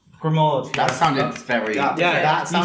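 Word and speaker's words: Gremaud: I'm going to say Matilda Grimaud. Grimaud.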